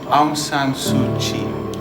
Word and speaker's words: Aung San Suu Kyi: Aung San Suu Kyi.